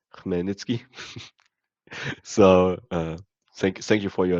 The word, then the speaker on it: Khmelnytsky: For everyone who wanted to hear it, it's pronounced Khmelnytsky.